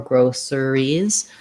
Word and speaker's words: groceries: rather than groceries groceries we just go right from the sh to the r with basically dropping that that schwa in there um yeah okay um